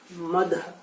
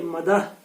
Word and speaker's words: مدح: نعت کے لغوی معنی مدح، ثنا اور تعریف کے ہیں۔ یہاں بھی درست کیجئے، مدح آپ نہیں پڑھیں گے بلکہ مدح، ثنا اور تعریف کے